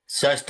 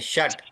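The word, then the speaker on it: षट्: एकम, द्वे, त्रीणि, चत्वारि, पंच, षष्ठ, सत्र, षट, षष्ठ नहीं, षट।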